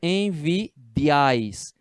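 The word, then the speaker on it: envidiáis: Como a sílaba tônica é essa última, vosotros envidiais, eu tenho que acentuar porque é uma oxítona em s. Então, essa última sílaba tem que estar acentuada.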